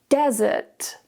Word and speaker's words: desert: Focus on the stress. Desert, desert. The stress is on the first syllable.